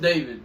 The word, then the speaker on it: d4vd: Pronounced David.